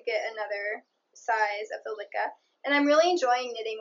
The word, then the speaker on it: Lykke: I know it's supposed to be like lyrical, so Lykke.